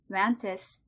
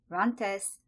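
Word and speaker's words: RANTES: I'll start with a paper titled CASR Agonist, or KSR Agonist, calcitolytic, NPS2143, hinders the release of neuroinflammatory IL-6, soluble ICAM-1, Rantus, and MCP-2 from A-beta-exposed humocortical astrocytes.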